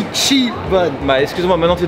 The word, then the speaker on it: Ichiban: pseudo il m'a dit on dit pas Ichiban on dit Ichi bun mais excuse-moi maintenant tu